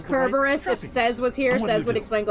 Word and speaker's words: Cerberus: Actually, technically it's pronounced Kerberos.